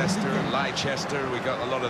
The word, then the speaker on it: Leicester: The Leicester City lineup: Kasper Schmeichel starts in goal.